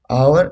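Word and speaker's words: hour: आवर has vowel sound are. और एच क्या होता है इसमें? साइलेंट होता है।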